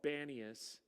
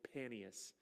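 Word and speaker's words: Paneas: what it's called well it's called banius because somebody at one point in time misread how to say it it's actual actually paneus after pan but uh yeah that's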